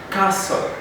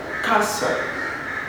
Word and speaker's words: castle: faith apostle then bristol bristol not bristol basalt castle castle and then we talk about fasting not fasting